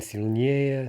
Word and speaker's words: сильнее: ending yeah, yeah, which very often is stressed for comparatives with two syllables or fewer, right? So silny, slabby, длинный, we expect to get stressed yeah, yeah, as in сильнее, слабее, длиннее.